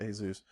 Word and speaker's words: Asus: a an Asus in however you want to pronounce it but I I pronounce it Asus uh an Asus n56